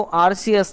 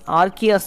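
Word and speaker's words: Arceus: तो सुनो मेरी बात इस पमन को आरसीएस नहीं आर्कियस प्रोनाउंस करते हैं आरकेएस के पास टोटल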